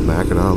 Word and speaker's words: Mackinac: Hey, this town of Mackinac, and the bridge is spelled Mackinac. Imagine they say them both Mackinac though.